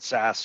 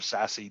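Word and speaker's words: SASE: the horizon is around sas or sassy depending on uh how you want to pronounce it that's a secure access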